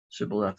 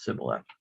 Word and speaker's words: shibboleth: to to do that it's not that they can't say the word it's that they're used to pronouncing it in a different way shibboleth versus sibila and it tells us